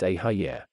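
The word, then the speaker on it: Eheieh: When this is felt, vibrate the word Ihai, pronounced Ahayir.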